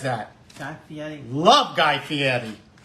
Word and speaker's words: Fieri: says that love Guy Fieri is it Fieri it looks like Fieri but he pronounces it Fieri I think he's trying to be Italian unappreciated Echo how much